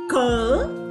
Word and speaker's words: cold: Presta atenção, não é cold weather, é cold, o L treme, cold weather, cold weather, clima frio ou tempo frio, cold weather.